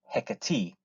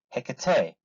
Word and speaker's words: Hecate: the scene is hecat there are sometimes confusion how to pronounce the word hecat because the name originates from greek some would say hecate others hecate either way there is no problem as long as